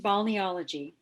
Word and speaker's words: balneology: can hear you okay balneology this is a pronunciation bonniology it's a challenging word